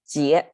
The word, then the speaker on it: 结: the left side what it means it's tight pronounced as jie this is a fascinating word whoever learns geometry